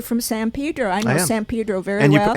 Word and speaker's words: San Pedro: I know San Pedro very well. And you pronounce it correctly as well. Yes, that's right. Not Pedro, Pedro.